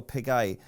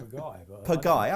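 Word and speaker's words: Pagaille: and is obviously pivotal to this, is Royal Piguet. That's a terrible pronunciation. What do you say, Kills? Piguet.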